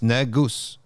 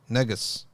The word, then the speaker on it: negus: word from Noah it's from the ancient guess pronounced negus negus yep so there we